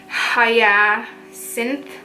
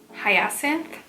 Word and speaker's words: Hyacinth: So the fragrance that they sent me was the Woody Hyacinth. Honestly, I don't even want to try to pronounce that because I already know I'm saying it wrong.